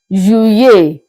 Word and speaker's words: juillet: July in French is pronounced as Juillet. Juillet. So the tactic here is that you pronounce the true letter L as if you are pronouncing just one letter Y. Then you get your sound of Juillet.